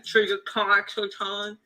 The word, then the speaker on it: Trijicon: You got the my boy got the trigger con. You know what I'm saying? How you say it? Trigger con? What's that? Trigger con? Trigger con? Trigger. Can you spell it for me?